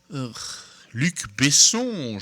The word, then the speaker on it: Luc Besson: Luc Besson, je montre ma prononciation française.